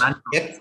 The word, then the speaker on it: Mantoux: Mantoux. X is silent.